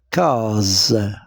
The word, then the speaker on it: case: ou ce ou alors la case S se trouve où entre deux voyelles entre la voyelle a et la voyelle e donc S se prononce ze et je lis cas la case là la tasse même